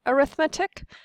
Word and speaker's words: arithmetic: So that word looks just like arithmetic but when we're using it as an adjective to describe the kind of sequence we pronounce it differently when say arithmetic.